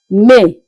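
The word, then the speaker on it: mai: May as you can see sounds the same as it is being pronounced in English except that the spelling differ with just I at the end. In English we have Y at the end. May but in French it is may. The same pronunciation but the spelling differs with the I and the Y.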